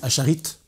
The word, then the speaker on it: acharite: qu'on appelle ascharya et en français disent acharite c'est la prononciation la française 16 ce sont des